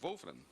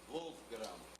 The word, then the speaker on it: Wolfgram: A pronúncia é essa mesmo? Wolfram? Isso, Wolfgram. Wolfgram? Alemão.